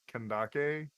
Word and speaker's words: Kandake: they probably meant sandus but I guess old it would have been pronounced kandake which that was that